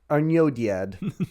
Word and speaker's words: Arnoediad: So now we get to the Nirnaeth Arnodiad. Didn't get Butchered that that one last one. Arnoediad. Arnodiad.